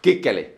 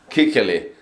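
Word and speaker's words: Kuechly: That guy should know that the way you pronounce his name, Kikkeli, means little boy's wiener in Finnish.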